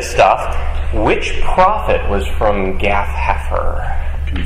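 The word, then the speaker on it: Gath-hepher: due east of Nazareth a little town called gath heer Deep biblical trivia stuff which prophet was from Gaff haer can you spell that g a t h h e p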